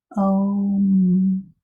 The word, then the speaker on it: home: So there's the E. It's doing its magic to the O, making the O say its name. And then the E is silent. Home, home, home.